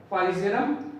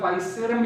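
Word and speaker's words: Physarum: ठीक है, और इसका एक एग्जांपल मैंने यहाँ लिख रखा है ब्रैकेट मिक्सोमाइसीटीज के आगे, फाइसेरम या फाइसेरम भी प्रोनाउंस करते हैं इसको।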